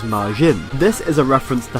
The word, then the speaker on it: Madzin: Apparently this is a message from Masato Nishimura, one of the landscape designers for Sonic CD, or Madzin, which is pronounced same as Majin.